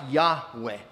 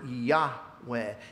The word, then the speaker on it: Yahweh: It probably was something more like Yahweh.